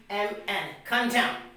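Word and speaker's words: contemn: column now the third example we have c-o-n-t-e-m-n come down now the last example we have is what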